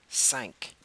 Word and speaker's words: cinq: Six, also cinq. Cinq ends in a Q, and you do pronounce the Q.